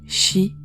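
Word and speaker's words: し: chiffre 13 de plus sa prononciation en japonais shi signifie la même chose que le mot mort alors la légende est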